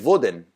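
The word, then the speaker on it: Wōden: And so actually, the way they pronounced Odin, the god of gods, the one with one eye of the Norse god Odin, was Vodin. And so the Old English Vodnesdag actually meant Odin's day. And so that's why in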